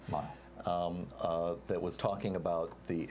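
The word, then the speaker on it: Lyell: I think it's Lyle is his name, it's pronounced? Lyle.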